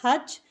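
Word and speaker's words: hutch: हम हच पढ़ते हैं हच देखिए इसमें टी साइलेंट है हच एच यू टी सी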